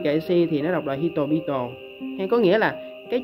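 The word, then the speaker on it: 人々: sau nó là chữ kuri kaisi thì nó đọc là hitobito.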